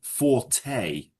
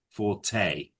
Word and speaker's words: forte: But it's pronounced forte. Forte. Yeah. It's a French word.